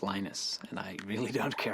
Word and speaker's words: Linus: What's your preferred pronunciation? When I speak Swedish, it's Linus. When I speak Finnish, it's Linus. When I speak English, it's Linus.